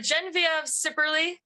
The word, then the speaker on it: Genevieve Sipperley: give us to us your name please uh gen of cerly I know that's a lot of vowels and syllables so yes it's a wonderful name hey